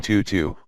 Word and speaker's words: Tutu: bore the chirping bird name tutu with the vowel pronounced as in French her entire forehead was